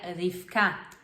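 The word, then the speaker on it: רבקה: depois dela vem Rebeca Rebeca se pronuncia rifka e é um dos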